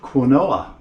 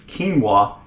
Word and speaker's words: quinoa: carry several bags of quinoa with me now I pronounced it wrong it's quinoa but it's spelled like quinoa and it's an ancient